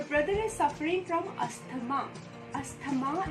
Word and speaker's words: asthma: Asthma is an incorrect pronunciation. The correct pronunciation is asthma. Yes, asthma is the right pronunciation and not asthma.